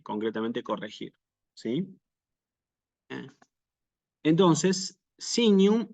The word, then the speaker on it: signum: corregir sí Eh entonces sinum y sancte llevan efectivamente su acento no obligatorio sí no es obligatorio Que aparezca en los textos en la letra i como les marco aquí y en la letra a sí Ese es el